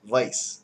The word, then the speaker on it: Weiss: wiser like he wiser it's pronounced Vice with like with the V um so they they